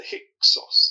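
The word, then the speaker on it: Hyksos: Uh, some people call it the hick sauce. They do in America quite a lot.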